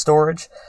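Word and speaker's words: Storj: heard of a storage it's spelled store and then J but it's pronounced storage it's just like Cu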